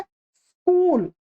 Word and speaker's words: स्कूल: स्कूल नहीं बोलता हूं ये सही इसका उच्चारण क्या है? स्कूल। स्कूल। स्कूल। अब मैं जब बोल रहा हूं तो इसके कोई ना तो इ आपको सुनाई। इ की ध्वनि सुनाई दे रही है ना